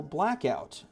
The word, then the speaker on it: BLKOUT: Um this is for Blackout. Uh Blk O T is how they spell it.